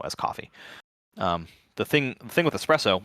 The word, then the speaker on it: espresso: So another misconception about coffee is that espresso, or some people say espresso, Italians say espresso, so I don't ever like correct anybody. It's spelled with an S in English, so just say espresso.